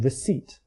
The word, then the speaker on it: receipt: The L in folk and salmon and the P in receipt have been lost.